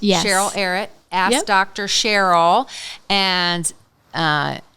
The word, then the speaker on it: Arutt: It's a r u tt and it rhymes with carrot, but it's not spelled like carrot. I know it's okay, but pronounced Dr. Erit. Cheryl Erit.